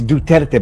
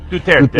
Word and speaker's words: Duterte: It's Duterte, by the way.